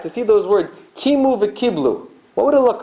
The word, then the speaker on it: v'kiblu: Kimu v'kiblu. It's written one way, it's written v'kibel, and it's enunciated, it's pronounced v'kiblu.